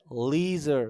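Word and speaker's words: leisure: তারপরে লিজার অথবা লেজার, লেজার। ওকে? সো এইখানে বুঝতে পারছেন এই এস এর উচ্চারণটা এই এস জি এর মতো উচ্চারণে আসবে।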